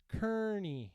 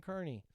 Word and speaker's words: Kearney: Kearney, Nebraska is pronounced Kearney, Nebraska. See? Kearney or Kearney.